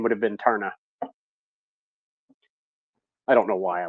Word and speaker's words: Taarna: My oldest boy, Chris, if he would have been a girl, I was going to name him Tarna, which is the girl at the very end of the movie.